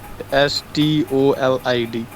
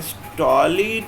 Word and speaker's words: stolid: Stolid, STOLID. Yes sir, STOLID. नहीं, स्टॉलिड यार, Stolid नहीं ना।